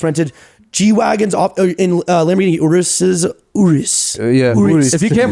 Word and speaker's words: Urus: G-Wagons in Lamborghini Urus. yeah, Urus. If you can't pronounce it, Yes, Urus.